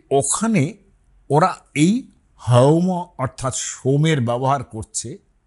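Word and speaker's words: haoma: সোমকে আমি অনেকবারই বলেছি জিদন্ত সটা ওরা হ উচ্চারণ করতেন অন্তত সেই কালে সেখানে ওরা বলছেন হোম কিছুদিন আগে সোম এবং হোমো নিয়ে একজন সাহেবের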